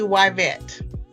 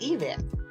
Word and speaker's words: Yvette: Y is actually Y vet. Y vet? Yes. Y vet. It is Y vet. And it's really interesting because one of my teachers said that I was mispronouncing my name. Yeah. That it should be pronounced Yvette.